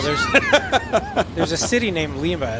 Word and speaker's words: Lima: pass on the announcers that Lima is pron pronounced with a long ey it's Lima not Lima boys we're Canadian about about AB boot what